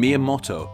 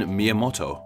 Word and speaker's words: Miyamoto: two kanji characters with the first character being the part of the name that is pronounced as Mia and the second character being pronounced as motto fans of the channel